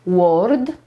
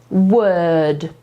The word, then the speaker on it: word: I Haven Little OK Zwróćmy uwagę na wymowę słówka to nie jest Word to jest Wet to jest takie bardzo gardłowe To jest ten sam dźwięk co w słowie Girl na przykład dziewczyna Can